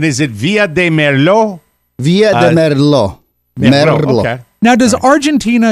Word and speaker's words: Villa de Merlo: Micro, North Carolina, Logan, Ohio, Stillwater, Oklahoma, Tucumcari, New Mexico, and Villa de Merlo, San Luis, Argentina. Do I pronounce that correctly, Oscar? Argentina. And is it Villa de Merlo? Villa de Merlo.